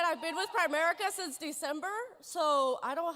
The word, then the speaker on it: Primerica: At least I can say it right. It's not Prime America or whatever.